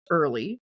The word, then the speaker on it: Orley: tabulated on Thursday on the farms of Frank Orley, which we know is pronounced early.